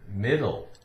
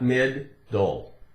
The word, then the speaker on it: middle: How about the word middle? Middle, middle, middle, middle, middle. One D, not mid-dole. Not mid-dole. It's actually difficult to make it sound like it has the sound made twice, right?